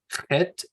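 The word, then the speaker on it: חית: Het is ch as in bach.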